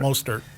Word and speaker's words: Mostert: Mostert. Mostert.